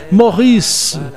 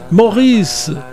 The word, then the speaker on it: Maurice: Se pronuncia dando uma esticada no S do fim, terminando numa espécie de E fechado, né, quase não pronunciado. Fica assim, Maurice, Maurice, entenderam?